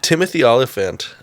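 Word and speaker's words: Timothy Olyphant: spend 20 seconds on it no no no Timothy olifant is that that's how you say his name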